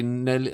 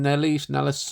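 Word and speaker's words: Nélisse: Jeffrey Rush, Emily Watson, Sophie Nelly, did I pronounce her name? Nellis.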